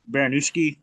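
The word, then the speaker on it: Baraniewski: Yeah, Baron Baronki. I think that's how it's pronounced versus uh Ebo Oslon.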